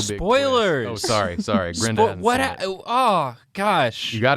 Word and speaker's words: Grendan: It's actually Grenda now. Oh, okay. Yeah, I apologize. So Yeah. it's Grenda. Major changes are afoot. Yeah. It's still spelled the same. The N is just silent.